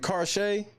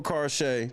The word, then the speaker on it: Karsha: Is it Karshay or Karsha? 1 for Karshay, 2 for Karsha. I want to make sure I'm saying it right. I don't want to be fucking on nobody's name. I fucks up enough. Okay, Karsha, great evening.